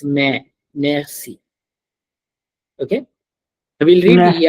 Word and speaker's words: merci: So what I was teaching you here is the C sound, which is pronounced as s and not k.